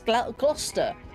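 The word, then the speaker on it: Gloucester: I'm like okay I I love the pronunciations for some things like Glowchester Shire. I'm like it's not Glow Chester Sh. It's Glouester or Glasters.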